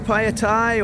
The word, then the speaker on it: Phaya: And here we are, Phaya, or as the BTS lady pronounced it correct, Phaya.